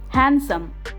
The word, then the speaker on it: handsome: it easy today we'll learn about a few words where the sound of letter d is silent badge badge bridge bridge